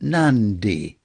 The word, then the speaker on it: Nadi: including the fact that when you get, shall we say, a D in Fijian, you pronounce an N before it. So Nadi is the airport, but you pronounce it Nandi.